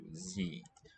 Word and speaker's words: Sie: Sie. Spelled S, but at the beginning of a syllable, it's going to be a Z sound wherever possible.